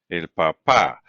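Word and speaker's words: papá: is papa papa and notice this one does have an accent right because it's pronounced differently remember we said if it ends in a vowel we expect the second and last syllable to be stress well here the last syllable stress so that's what that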